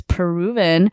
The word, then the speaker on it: PRVN: So the next program we're going to be talking about is Peruvian, but it's spelled out as PRVN.